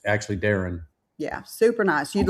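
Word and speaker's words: Darion: It's Everyone calls him Daren, or some people call him Darian, and it's actually Daren.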